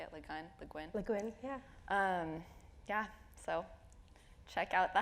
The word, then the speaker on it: Le Guin: Le Guin, yeah.